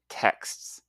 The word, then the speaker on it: texts: Okay, it's got a really difficult final consonant cluster. Listen again. Texts. Now many languages simplify or avoid consonant clusters at the end of words. So learners often omit or mispronounce them.